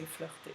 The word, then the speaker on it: flirter: because it's a verb, you add er at the end, and so you say flirter.